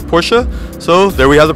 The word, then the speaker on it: Porsche: is it Porsche or porschea now if you just read the letters it is Porsche but it's Ferdinand Porsche's name and his family pronounced it Porsche so there we have the